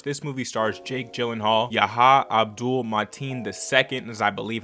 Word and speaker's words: Yahya Abdul-Mateen II: So that being said, of course, this movie stars Jake Gyllenhaal, Yahya Abdul-Mateen II, is I believe how you pronounce his name, who starred as Candyman.